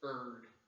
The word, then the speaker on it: erred: I learned in college that real word is erred. That's how you pronounce it properly, in case you're wondering.